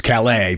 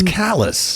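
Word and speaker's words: Calais: pronounce things wrong callous the real callus in France is Cala but no not in Maine it's callus yeah also we're just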